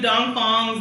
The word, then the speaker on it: Dong Fong: Okay, next I'm gonna do Dong Fongs. They just gotta go by DP Bakeshop because a lot of people can't pronounce their name, but it's Dong Fong.